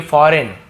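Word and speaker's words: foreign: विदेशी, फॉरेन, ये भी देखिए फॉरेन, G साइलेंट है, ठीक है।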